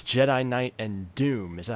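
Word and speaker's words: Dume: It says Jedi Knight and Doom. Is that how you pronounce it, Eric?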